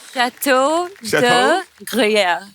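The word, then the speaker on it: Château de Gruyères: Jacqueline ने pronounce it। Jacqueline क्या नाम है इसका? Chateau de Gruyère.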